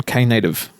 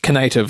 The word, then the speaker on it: Knative: I always thought that Knative should be pronounced Knative, like Donald Knuth. Yeah, no, there was a lot of discussions about how should it be pronounced, and Knative was definitely there, and it was like, no.